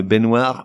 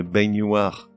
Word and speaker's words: baignoire: Une baignoire, mais une baignoire.